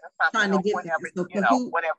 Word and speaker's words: Kahoot: which is Kahoot It, Kahoot.it, excuse me. And Kahoot is spelled like it sounds, K-A-H-O-O-T, so Kahoot.it.